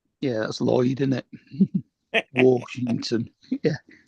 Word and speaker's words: Washington: And we we generally say it without the R in it. Yeah, that's Lloyd, is it? Washington.